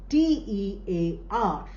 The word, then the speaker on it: tear: let similarly the other example you have is t e a r. Now here also you have uh the same spelling only spelling is same but pronunciation is different meaning is different pronunciation is